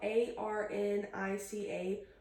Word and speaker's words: arnica: The homeopathic stuff is spelled A R N I C A. Arnica, I think it's how you pronounce it.